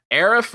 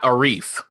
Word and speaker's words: Arif: So Arif or Arif, but not Arif.